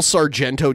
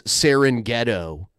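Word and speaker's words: Sorrento: pepper jack Comin oh he say it correctly now he used to call sarento cheese saren ghetto cheese SAR ghetto yeah I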